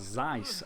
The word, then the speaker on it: Zeiss: print is the name called Zeiss and I know that sounds D me saying it like that but I think that's how it's pronounced but you're never going